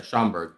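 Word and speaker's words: Schomburg: Yeah, Alex Schoenberg. Schoenberg? Yeah, Schoenberg.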